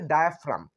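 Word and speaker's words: diaphragm: ডায়াফ্রাম ডায়া ফ্রাম ডায়াফ্রাম ডায়াফ্রাম বানানটা একটু একটু খটোমটো ডি আই এ ডায়া পি এইচ আর এ জি এম এখানে জি যুক্ত হবে ঠিক আছে জি যুক্ত হবে কিন্তু জি এম ডায়াফ্রাম ডায়াফ্রামের বাংলা কি ডায়াফ্রামের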